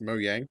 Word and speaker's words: Mojang: Um, well, Mojang licensed this and Mojang have shitloads of money. It's pronounced Mo Yang.